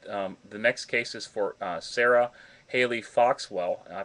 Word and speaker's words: Sarah Haley Foxwell: The next case is for Sarah Haley Foxwell. I pronounced that correctly, Deborah?